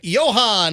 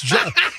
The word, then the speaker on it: John: Johan in Spring Hill. Am I pronouncing that right? John? Oh, it's John.